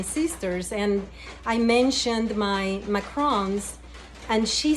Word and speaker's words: macarons: all over the place no I believe she mispronounced it I think she called them macaroons which is made out of coconut completely different but at